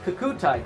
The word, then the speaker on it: Kokutai: Kokutai. I've been told I've been saying it wrong. So, it's like a bird. Cuckoo. The Kokutai Clan has expanded into